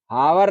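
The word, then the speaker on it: hour: और घंटा की अंग्रेजी आवर ना होता है आवर होता है एच साइलेंट होता है अंकल जी ठीक है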